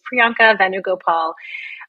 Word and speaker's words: Priyanka Venugopal: so support certified OB GYN and as you pronounce perfectly my name is Priyanka venugopal um and I grew up in New Jersey